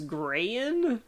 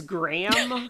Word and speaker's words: Graham: name wrong at first I thought he said that his name was grayan and it's Graham it's Graham but I